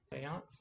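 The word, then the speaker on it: Séance: of the umbrella academy did i pronounce that right seance yeah yeah okay good um it's got the little thing over it so anyway i've been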